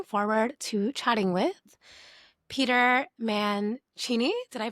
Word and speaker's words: Mancini: I am your host, and today I'm joined by someone I've been looking forward to chatting with, Peter Manchini. Did I pronounce that correctly?